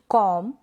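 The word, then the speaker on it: comb: Examples देख लेते हैं इन स्पेलिंग्स के, जैसे कि कॉम, बॉम, थम, क्लाइम, टॉम, क्रम, लैम।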